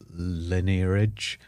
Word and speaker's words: lineage: Because it came, because we've got a direct lineage.